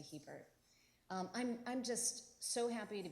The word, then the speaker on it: Hebert: I'm Hebert-, actually not Hebert, but thank you, Yvonne, for giving me my French pronunciation, which if I was more classy, maybe I would use, but we long converted to Hebert.